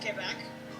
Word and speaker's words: Quebec: If you go to Quebec, it's pronounced Quebec. Because you say it because they like French people there. I know. I took French, so that my teacher drilled that into my head.